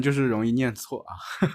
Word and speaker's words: 出租车: it hard to pronounce 对我们两个南方人就是容易念错 duì wǒ men liǎng ge nán fāng rén jiù shì róng yì niàn cuò Right, the two of us Southerners are likely to mispronounce it 啊哈哈 a hā hā Ah, haha 出租车我们念出租车 chū zū chē wǒ men niàn chū